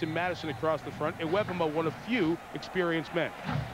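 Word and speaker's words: Iwebema: Pronunciation change. Kenny Iwebuma is the correct way to say it now. With Pearl, Wilcox, and Madison across the front, Iwebuma one of few experienced men.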